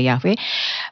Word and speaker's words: Yahweh: Ya, ada penggunaan nama tetragrammaton atau Yod-Heh-Wah-Heh atau disebutnya juga Yahweh, ya, diucapkan sebagai Yahweh.